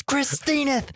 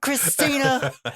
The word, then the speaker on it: Christinith: by mispronouncing her name it's it's christinith not Christina you come to my